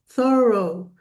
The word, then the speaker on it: thorough: So, it has two syllables, thorough. And that last part, the o u gh has a long o sound.